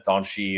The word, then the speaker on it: Dante: in Center Central defense doni uh or spell Dante but I guess it's doni if you're pronouncing the way the Brazilians want to um totals two and